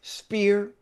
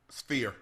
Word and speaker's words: Sphere: Albright, Frank Martin, Albright 2 at the Las Vegas Spear. How you say it, Sphere. Yeah, that's right.